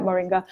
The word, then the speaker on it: moringa: hearts let's talk about this Moringa or some pronounce it as merengue merengue marine God well just gonna call it Moringa it's balances hormones it's